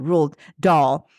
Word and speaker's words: Roald Dahl: RuPaul without the P. Thank you. Roald Dahl.